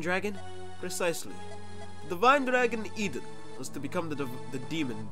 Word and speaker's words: Idun: Okay, I know it's spelled Idun here, but I refuse to believe that if this game ever gets localized names, that isn't gonna be Eden. Like, the Garden of Eden.